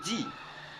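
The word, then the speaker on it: the: au pluriel comment se prononce d d se prononce devant devant les vOYEL comme dit for exemple di animal di animal di anim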